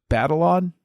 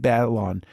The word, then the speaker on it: Batalon: This character and the way that it's Jacob Batalon, I think that's how you pronounce the last name, Jacob Batalon, the way he plays the character is so